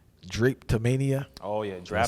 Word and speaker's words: drapetomania: You talk about Samuel Cartwright's theory called, and excuse me if I'm pronouncing this wrong, Drapetomania. Oh yeah, Did I say that correctly? Drapetomania.